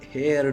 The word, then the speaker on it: heir: So the son becomes the heir to the property. Heir to the property. Okay, जे वारस वारस म्हणतात मराठीमध्ये त्याला. आणि एअरला हवा. प्रोनाउन्सिएशन सेम आहे, पण स्पेलिंग डिफरंट आहे, मीनिंग डिफरंट आहे.